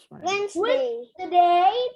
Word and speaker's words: Wednesday: Jadi ini hilang. D-nya silent. Yes, E-nya juga hilang. Bacanya jadi Wednesday.